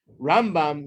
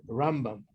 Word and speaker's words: Rambam: Rambam, you put the emphasis on the first half of the word, Rambam.